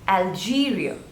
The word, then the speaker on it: Algeria: you first country is Algeria there are three syllables Al G real and the stress is on the seconds label Algeria Algeria Algeria next is